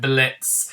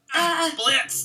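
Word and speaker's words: Blitzø: Blitz. The O is silent.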